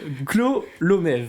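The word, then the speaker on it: Gkolomeev: olympique donc qui s'appelle Christian Go tu le prononces ? Tu essayes ? Allez je te le laisse. Clomèv.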